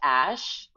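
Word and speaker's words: Æ: is uh x-a-e a12 and the ae pronounced ash and the a12 was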